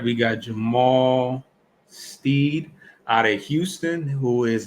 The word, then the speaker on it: Jamal Shead: I actually mispronounced his name. Jamal Shead out of Houston.